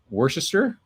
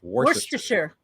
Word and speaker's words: Worcestershire: Worcestershire, isn't it? Yes. I think like normally I would say Worcestershire, but I'm pretty sure they like to run it together like Worcestershire. Worcestershire.